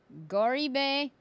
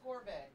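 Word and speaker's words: Gorobei: Then we're gonna go with Goribe. Gorube. Gorube. Yeah. Ah, I got one right! Yay! Oh no, it's Gorbe. Gorbe. Like gourmet.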